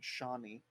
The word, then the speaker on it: Chane: It's spelled Chain, Chane, but it's pronounced like Shani.